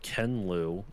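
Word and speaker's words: Ken Liu: by an author named kenlou um K Ken spelled the the way you'd expect and then Louis spelled l IU okay and he wrote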